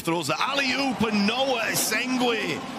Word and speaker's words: Essengue: Noa Essengue. Apparently it's how it's pronounced.